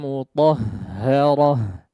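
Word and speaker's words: مطهرة: dijadikan sebagai mad iwad, tapi diubah menjadi huruf ha, ya. Diubah menjadi huruf ha yang disukunkan, ya. Contoh seperti potongan ayat yang paling bawah di situ, yatlu suhufan mutahharah, yatlu suhufan mutahharah, ya.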